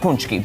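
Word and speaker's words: pączki: If you look at that box, look at that spelling. Yeah. That does not look like punchki, but I don't speak Polish.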